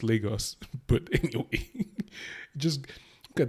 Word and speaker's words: Lagos: scene in Lagos what they say Lagos Americans pronounce Nigeria as Lagos it's Lagos but anyway just look at that I mean